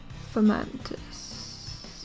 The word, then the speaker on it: Fomantis: Is it Fomantis or something like that? I can't remember how to say it. Fomantis.